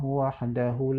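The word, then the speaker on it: وَحْدَهُ: Belum lagi pada lafaz La ilaha illallah wahdahu la syarikalah. Wahdahu. Seharusnya pada hu itu panjang, karena dilambangkan dengan angka 6 kecil atau dhammah terbalik.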